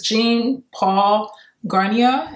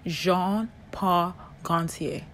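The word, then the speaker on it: Jean Paul Gaultier: right here this is jean paul garnier hi guys so i learned this is a french name and it's actually pronounced jean-paul gauntier jean-paul garcia bye this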